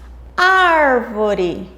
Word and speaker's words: árvore: A sílaba ar, que é composta de uma vogal e uma consoante, é a sílaba tônica, a sílaba mais forte.